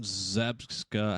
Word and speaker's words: Zabka: And since Cobra Kai ended, I went on William Zabka, how do you say his last name?